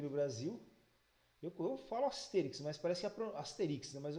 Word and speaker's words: Asterix: Eu eu falo Asterix, mas parece asterix, mas a pronúncia parece em Portugal parece ser astérix.